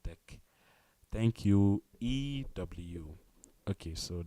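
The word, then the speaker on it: deque: keep studying um pronoun it is pronounced deck yes thank you very much it is pronounced deck thank you ew okay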